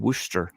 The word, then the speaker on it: Worcester: it takes place in wer so WRA Massachusetts and uh she has a Boston accent so oh so she's a mass I think it's wer I mean it's not pronounced like it sounds so massachus I should